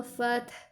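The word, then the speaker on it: الفتح: Oleh karena itu, cara membacanya ta-nya harus terdengar dan ha-nya juga harus terdengar.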